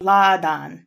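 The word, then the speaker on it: Láadan: Did we know there's an accent on the first? Yeah, it's supposed to be lad.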